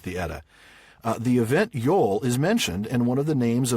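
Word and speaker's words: jól: it's cognate with an old Norse word Yol J L with the little symbol over the O Yol and relates to a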